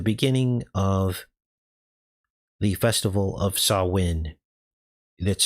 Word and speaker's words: Samhain: Now, if you didn't know, Halloween is the beginning of the festival of Samhain. That's spelled s a m h a i n.